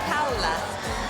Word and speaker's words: Paola: And I just want to say, you know, her name is Paola. Uh, you see, I study many different languages and that is how you pronounce it.